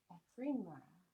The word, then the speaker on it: Ephemera: Ephemera. I did say it right again. It's like ephemeral.